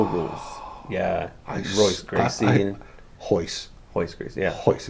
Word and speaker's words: Royce: I thought it was Royce. No, that R is Is it in his name? Jesus Royce Hoist. Okay. But is it spelled with it's spelled with an R, but it's pronounced with an H.